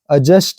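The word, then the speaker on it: adjust: अजस्ट, एडजस्ट हम अक्सर बोलते हैं लेकिन अजस्ट है वो, डी के बाद जे आया है।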